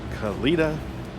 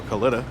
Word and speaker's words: Kalitta: in here Mike Salinas khalida or Kalitta however you want to pronounce it I've heard it both ways another big name Tony